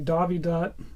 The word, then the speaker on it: Dowidat: So I'm not sure why he spelled that with a V there, because I believe that's supposed to be a W, but that's how you actually pronounce it, is with a V.